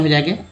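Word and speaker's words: has: होगा तो करेक्ट उच्चारण हो जाएगा आर का। उसके बाद एस से सब तो जब, जैसे एच ए एस क्या बोलते हैं इसको, हैज, ठीक है, हैज बोलते हैं, यानी इसको ज बोलते हैं।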